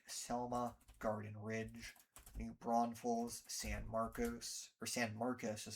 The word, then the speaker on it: San Marcos: City, Live Oak, Selma, Garden Ridge, New Braunfels, San Marcos is how they pronounce it, Kyle, Buda, Austin, Rollingwood, Westlake Hills.